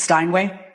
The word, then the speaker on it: Steinway: I grew up in Astoria, New York, by a busy street that was called, is this how you pronounce this, Steinway?